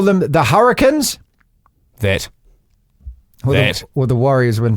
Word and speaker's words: Hurricanes: It's not hurricanes, it's hurricanes. Oh, back to this. Hurricanes How's sounds it so wrong. spelt? How is it spelt? Spell it, Martin. HURRIKINS.